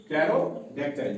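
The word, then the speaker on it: pterodactyl: देखो यहां भी साइलेंट रहेगा पी। यहां पेक्टाइल नहीं पढ़ा जाएगा बल्कि यहां क्या पढ़ा जाएगा? कैरोडेक्टाइल क्या पढ़ा जाएगा? कैरोड कैरोडक्टाइल।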